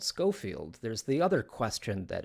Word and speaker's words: Schofield: skolfield from now on it's not pronounced that way it's just scoffield but I'm going to